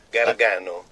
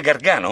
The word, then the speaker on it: Gargano: Gargano. Come? Gargano. Devo dire Gargano? No, si dice Gargano.